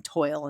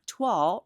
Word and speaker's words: Toile: So it rhymes with fall. Just think Autumn Toile rhymes with fall.